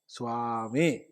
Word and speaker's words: സ്വാമി: പറയുക എന്താ ഇപ്പോ ചെയ്യ അതിനൊക്കെ ഇത്ര ശുദ്ധമായ ഒരു ഉച്ചാരണം നിലനിന്ന പ്രദേശമാണ് നമ്മുടെത് അതിന്റെ മഹത്വം നമ്മൾ ഇങ്ങനെ കളഞ്ഞു കുളിച്ചാൽ എന്താവും അതുകൊണ്ട് സ്വാമി എന്ന് പറയരുതേ സ്വാമി എന്ന് തന്നെ പറയണം പിന്നെ വേറൊരു വിഷയം കൂടി ഉണ്ട്ട്ടോ